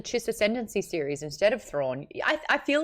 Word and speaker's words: Thrawn: But what I was going to say earlier is that there is a reason that thrawn rhymes with yawn.